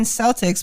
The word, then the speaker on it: Celtic: How come they call them the Boston Red Sox. Celtics, but it's pronounced Celtic?